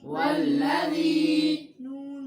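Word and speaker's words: والذين: वो अल का हमजा वो साइलेंट होता है, दरमियाने कलाम में हज़फ हो जाता है। जी भाई वल्ला वल्ला वल्लज़ी नून ज़बरना नून ज़बरना वल्लज़ीना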